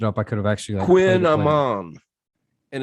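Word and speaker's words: kouign-amann: I guess if I looked it up, I could have actually Quin Amon, and it's a pastry.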